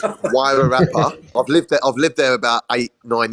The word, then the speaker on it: Wairarapa: Oh, I probably don't even pronounce it right. It's Wairarapa.